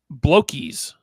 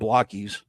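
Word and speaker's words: Blokees: I am going to be doing a channel members only unboxing of Blokies, which I pronounced it wrong last time. Transformers Blokies. I thought they were called Blockies.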